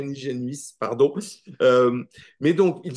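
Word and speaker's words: Nijenhuis: jamais prononcer le nom mais qui s'écrit ni Génius et voilà mais qui doit pas se proncer comme ça paraît-il mais je ne suis pas néerlandophone je dirais niigénuis pardon euh mais donc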